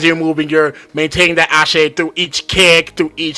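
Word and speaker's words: axé: energy, the essential energy being like ashe, or like I think it was spelled like AXE.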